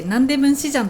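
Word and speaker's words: 南大門市場: 南大門市場と書いてナンデムンシジャンと呼びます。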